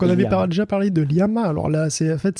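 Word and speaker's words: LLaMA: avait déjà parlé de liama alors là c'est en fait c'est Lama avec de en fait ça se prononce i c'est pour ça c'est malin c'est liama liama bon donc liama effectivement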